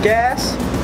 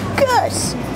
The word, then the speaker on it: Gus: Order for gas? Gas? Somebody say gas? Got my name wrong. Supposed to be Gus.